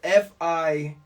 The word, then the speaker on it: Feins: It's Feins. Feins. Okay, so the extra E is you can hold on to that.